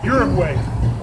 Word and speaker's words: Uruguay: How do you pronounce it? Eugene? Uruguay.